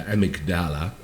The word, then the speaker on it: amygdala: to get to the amygdala the amigdala as the british say but it was another